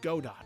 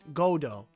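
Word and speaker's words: Godot: Edgeworth who acknowledged God dot as the best in this country. The T is silent. Godo. Godo.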